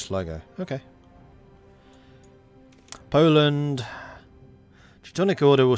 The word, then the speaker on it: Sligo: Actually, in Irish, the pronunciation is Slee as in slit. I was told it was Sly. But in English it's Sly. Okay. Sleagok. In English Sligo.